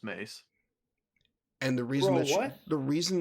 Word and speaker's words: Mace: him she thinks she's she thinks his name is pronounced masewindu no it's mace and the reason the